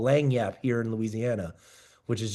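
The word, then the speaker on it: lagniappe: It's what we like call lang yap here in Louisiana, which is just something extra.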